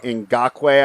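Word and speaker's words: Ngakoue: about the defense yeah yannick in in gawkway i think is how you pronounce it should help with the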